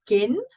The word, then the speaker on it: kin: Volgende, de kin. Doesn't have anything to do with next of kin, but it does rhyme with kin.